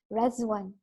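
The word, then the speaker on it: Riḍván: everyone uh by now would have known that ran is actually pronounced as resan right so it's a uh Festival of joy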